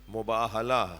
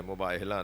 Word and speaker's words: مباہلہ: محمد و آل محمد۔ پہلے تو صحیح تلفظ ان بچوں جوانوں کا رہے کہ مباہلہ صحیح لفظ ہے، مباہلہ نہیں۔ ہا دو چشمی جو